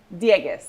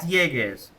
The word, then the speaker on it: Dieguez: Am I pronouncing your last name correctly? Diegas. Yeah, Diegas.